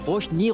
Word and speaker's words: Roshni: Rosny, non. Roshni, Roshni, Roshni. Vous pouvez continuer comme ça jusqu'à ce que vous arriviez à le prononcer correctement.